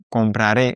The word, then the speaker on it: compraré: Attention, à chaque fois, on va avoir un petit accent sur le A et sur le E de compraré. Comprará, compraré, c'est pour ça qu'on a cette accentuation sur la dernière syllabe.